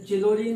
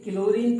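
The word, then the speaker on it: Chlorine: इसे चिलोरीन मत पढ़ना भाई, स्पेलिंग तो इसकी ऐसे है CHLORINA। ये क्लोरीन पढ़ा जाएगा, इसे चिलोरीन नहीं पढ़ेंगे। ठीक है, ये मिस्टेक मत करना।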